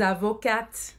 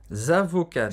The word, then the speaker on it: avocat: E eu dizia, je suis avocate. Je suis avocate. Je suis avocate, mas muitas das minhas colegas não falavam assim. Falavam, je suis avocat. Sem pronunciar o T no final, no masculino.